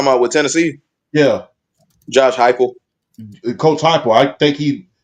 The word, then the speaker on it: Heupel: But as coach, I think it's Coach Haple. How do you say his name, BRL? Josh, talking about with Tennessee? Yeah. Josh Heupel.